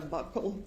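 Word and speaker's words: buccal: the jury what a bugle swab is? So, a bugle swab or a buckle swab, depending on different people say it different ways. It's spelled B U C C A L.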